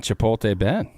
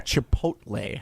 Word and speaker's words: Chipotle: lapped by Tucker craft chipot can you not say Chipotle chipot chipot why are we giving chipot like what are we doing it's Chipotle you're a Chipotle thanks